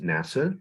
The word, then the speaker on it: NASAA: Arts agencies and yes the acronym is pronounced NASA just like the space agency and before we get